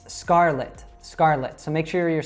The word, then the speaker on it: Scarlett: It's Scarlett.